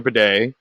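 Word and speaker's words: Badie: bedet and that's the way he wants it Pronounce Tyler Beday gets more work for this team we'll see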